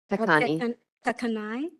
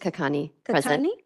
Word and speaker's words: Kakani: Jackson absent commissioner Melinda kakani kakai just kakani my apologies for mispronouncing